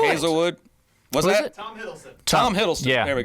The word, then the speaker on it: Hiddleston: Hiddleston? I don't know. Not sure how to say this, but guy in the chair. Yeah. Who played Loki? It's Tom Hiddleston.